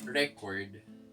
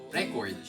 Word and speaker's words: record: Yung record naman, kapag yung stress ay nasa huling syllable, di ba yung sa noun, stress ay nasa unang syllable. Record. Pero sa pangalawa, yung sa paggagamitin mo na siya as verb, nasa pangalawa na yung stress.